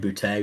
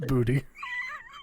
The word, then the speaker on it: Boutte: I just like saying Boutte because he's got to be a French guy, right? French guy for sure, right? I think I'm not trying to steal your thunder. I think it's pronounced booty.